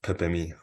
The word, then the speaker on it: Pepe: significant one the pathe yeah pep or alter pronounced Pepi okay yeah well before we jump into your